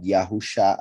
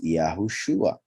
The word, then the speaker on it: Yahushua: And look how it even has a vav between the shin and the ayin, so we know that it's Shua and not Yahusha, as a lot of people pronounce it. Is Yahushua, a mix of Yahweh and Yasha.